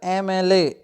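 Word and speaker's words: MLA: क्यों लगेगा एन, क्योंकि इसका प्रोनाउंसिएशन क्या है, वॉवेल की तरह, एमएलए, एमएलए। तो ये देख लें क्या लगेगा, एन, ए और दा का कोई रोल नहीं है।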